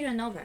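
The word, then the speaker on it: Ronove: It's supposed to be Renova. It's supposed to be like Renova. It's Japanese name. They're not pronouncing sounds usually, especially when they're in the end of a word.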